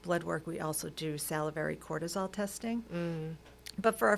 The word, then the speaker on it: salivary: You said salivary cortisol.